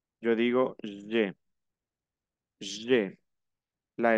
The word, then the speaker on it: j'ai: Alors, répétez, j'ai. Acuérdense que la A y la I se pronuncia E. Yo digo j'ai, j'ai.